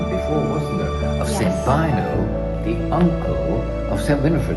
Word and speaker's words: Beuno: I see you are pronouncing Saint Beuno properly, whereas I got it wrong calling him Saint Beuno, but That's what I started with, Father.